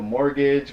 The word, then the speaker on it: mortgage: so you have a mortgage what is that there's a silent T in it like what the [